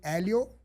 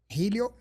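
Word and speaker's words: Hélio: one of the graces we say Elio Helio. The pronunciation English Helio.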